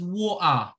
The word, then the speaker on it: water: Yes, water is pronounced as wua.